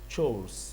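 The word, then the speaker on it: chores: यू are always trying to गेट आउट of your चोर्स। चोर तो आपने सुना होगा, चोर उर्दू में, तो इसकी प्रोनाउंसिएशन भी चोर होती है, चोर्स।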